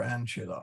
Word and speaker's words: ancilla: So here, the accent is on the A. Okay, whoop, let me put the N back in. Short, short, so accent is on the